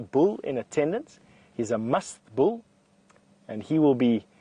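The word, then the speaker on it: musth: Now, must, it depends on how you say it, M-U-S-T-H, is a condition that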